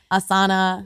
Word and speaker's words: asana: is this language yeah asana yeah asana long a a s a you a sa na na no it's good so it's just a long a and yeah so let's